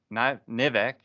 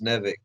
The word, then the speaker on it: Nivek: Nivek? No, Like it's Kevin backwards or something? it's Kevin backwards, but it's Nevik.